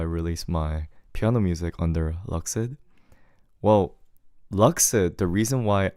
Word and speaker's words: LUXID: So I used LUXID because I wanted to be edgy. But then I told you guys, apparently it's pronounced Luxid.